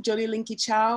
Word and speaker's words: Jodie Lyn-Kee-Chow: i'll say my name jody linky ciao i can say it in it's more of a chinese pronunciation or i could say it in a jamaican pronunciation so is how i